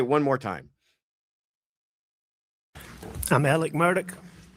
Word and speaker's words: Murdaugh: Um I it is interest he pronounces his name Alec Murdoch which is apparently uh because of the kind of Scottish um uh uh history of that area Scottish immigrant im immigration